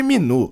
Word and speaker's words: Minu: Caim diz que não gosta de Seo, errando de novo seu nome pronunciando falando Min em vez de Minu.